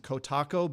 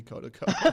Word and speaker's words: Kotaco: Kodico Um, a lot of people like to pronounce it Kotaco, but it's actually really Kota to co.